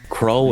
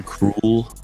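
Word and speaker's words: Krul: And I Yeah, I don't know how to pronounce K R U L. Crawl or cruel. And I think both work.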